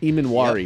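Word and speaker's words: Emmanwori: Amari? Emanwari? Emanwari.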